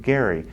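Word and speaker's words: Gerry: we can't remember that his name was actually pronounced Gary and uh that particular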